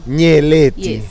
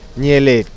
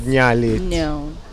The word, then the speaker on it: Nyeleti: say your name lady nearly so the NYE is together nearly not nearly nearly what does it mean